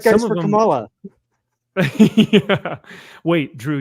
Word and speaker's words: Kamala: And White guys some for of them, Kamala. yeah. Wait, Drew, you didn't say it right. It's Kamala. Okay.